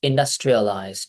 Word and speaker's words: industrialized: It's industrial- industrialized now. Is Is industrialized now? No. Indus- The stress is on the word dust. Industri- alized. Industrialized. Industrialized. Industrialized. Industrialized. Industrialized now. Industrialized now. Now, you say tri-al.